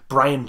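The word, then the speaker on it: Brion: Brian James. It's spelled B-R-I-O-N, though. Like, it's spelled different.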